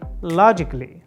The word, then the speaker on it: logically: second silent a letter A before LLY is silent for example this is not correct to say logically logically this is wrong and instead you should say logically logically a is not